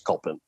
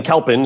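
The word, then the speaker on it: Kalpen: to pronounce it is called but the right pronunciation is culpin but uh kel i mean kalpin is sort of the angle-sized pronunciation and so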